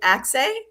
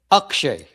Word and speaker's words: Akshay: And today I am very grateful for Axay and I want to make sure I'm saying it right. Is it Axay? Akshay. Akshay. So Yes.